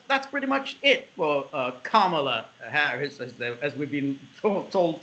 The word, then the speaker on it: Kamala: So she dropped out, and one would have thought that's pretty much it for Kamala Harris, as we've been told to is the correct pronunciation.